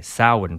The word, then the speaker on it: Samhain: years before the last time they had a Samhain festival, which for us would be like a Halloween kind of festival.